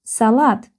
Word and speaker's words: салат: because the word has two syllables. Salat.